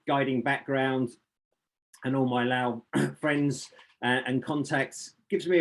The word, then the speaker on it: Laos: really up to you the french generally are the ones that said that said lao uh president nixon famously and incorrectly pronounced it laos as he tried to